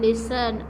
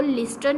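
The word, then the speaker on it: listen: अब यहाँ पर देखें टी हमारे पास साइलेंट है, ये मैंने आपको पहले भी बात बताई थी। हमने इसको लिस्टन नहीं पढ़ना, हमने टी को साइलेंट कर देना है। लिखा तो जाएगा लेकिन बोला नहीं जाएगा।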